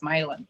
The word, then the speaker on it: Milon: he sounded French, but he pronounced it like an Irishman, so it's Mylan. That's honestly that's a book. I think that's a book on its own. There's something there. Oh, Catherine Mylan, and Will Clark.